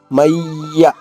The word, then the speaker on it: మయ్య: మయ్య మయ్య. అక్కడ యా కింద యా అవుతుంది, దీన్ని ద్విత్వాక్షరము. ఇది ద్విత్వాక్షరము. వేరే హల్లు వస్తే ఏమంటారు?